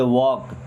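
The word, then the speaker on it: walk: Then वॉक slowly, वॉक, अब यहाँ पे एल साइलेंट होगा, वॉक नहीं पढ़ेंगे, वॉक, क्या वॉक, वॉक स्लोली, स्लोली का मतलब होता है आराम से।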